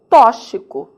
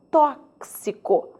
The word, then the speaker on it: tóxico: É muito comum eu ouvir o tal tóxico. Só que tóxico não existe. o vocábulo tem de ser pronunciado como tóxico. E aí, por que será que alguns brasileiros persistem em tóxico? Desconhecimento do valor fonético desse X, do valor do som do X.